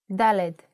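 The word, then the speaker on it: ד: let's move to the fourth letter DED with a sound of D DED that's it just one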